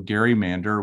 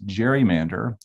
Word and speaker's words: gerrymander: But let me just mention, I'm referring to gerrymander with a hard G. Many of you will pronounce it or have heard it as gerrymander. But the truth is, the name for that process comes from a person named Elbridge Gerry.